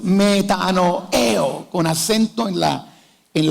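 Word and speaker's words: μετανοέω: arrepentimiento viene de una palabra griega que se pronuncia así metano eo aralo conmigo una dos 3 metano eo con acento en la en la última bueno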